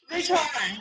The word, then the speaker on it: Ruotola: I want to pronounce this properly. Ruotola, Behrendt? Ruotola.